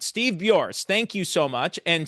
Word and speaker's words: Buors: It's Bu. Bu. Okay. I would have said it wrong. All right. Steve Burs.